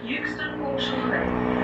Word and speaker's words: Euxton: in Aldi, you don't need to call the mispronunciation, please, because I'm taking away. It's Euxton, and you're not allowed to argue with Anne.